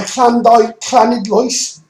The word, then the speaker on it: Llanidloes: But anyway, okay, the Llanidloes is, I've put it as clan, because double L in Welsh, for anyone who doesn't know, is pronounced like a clan.